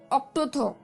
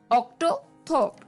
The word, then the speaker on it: octothorpe: लिए the third word for the evening is ऑक्टोथोप। ऑक्टोथोप, जी हाँ दोस्तों, ये भी थोड़ा अटपटा सा वर्ड है, पर जैसे मैंने कहा कि ये एपिसोड काफी मुश्किल होने वाला है, तो ये वर्ड ऑक्टोथोप, OCTOTHORPE, ऑक्टोथोप।